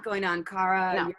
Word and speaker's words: Ankara: Is it Ankara?